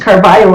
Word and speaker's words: Carvalho: Carvalho and and uh it's spelled with an L but pronounced Carvalho I just learned.